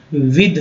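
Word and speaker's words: with: ये विद है, लोग इसे विथ भी पढ़ते हैं, लेकिन ये एक्चुअल जो उच्चारण जो होगा प्रोनाउंसिएशन बहुत ही करेक्ट विद होगा, विद।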